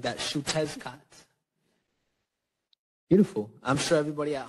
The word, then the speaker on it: Xiuhtezcatl: So it's pronounced Xiuhtezcatl. Okay. Xiuhtezcatl. Yes. Let's say it one more time. Like that. Xiuhtezcatl.